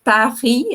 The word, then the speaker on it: Paris: Tem a questão também do nome, né, em francês, Paris, a gente não pronuncia, né, a consoante final, também é um jogo